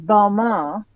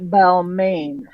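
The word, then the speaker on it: Balmain: have no idea so the correct pronunciation here is balma not balain okay balma balma it's the French thing um oh this one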